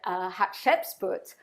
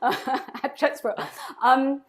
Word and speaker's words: Hatshepsut: And so I googled and researched, and what I found was that Hatshepsut, if I've pronounced her name right, it's like hot chicken soup, Hatshepsut, was actually, a pharaoh and a queen without a consort.